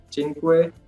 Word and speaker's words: cinque: Keep that in mind that the pronunciation of C, like when it's with CI, it's always ch, like cinque, and then again you can see 10. You see? So CI is always ch in Italian, so keep that in mind.